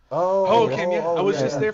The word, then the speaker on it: Hohokam: No, it's the A stadium, Hohokam. Hohokam, yeah.